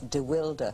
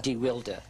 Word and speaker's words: DeWilde: remember, by the way, he had a different pronunciation. It was DeWilde. DeWilde.